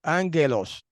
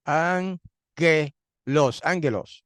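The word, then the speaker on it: ἄγγελος: Usted sabe que en el griego la palabra que en español se dice ángel, en griego se dice ángelos, ángelos, con acento en la A.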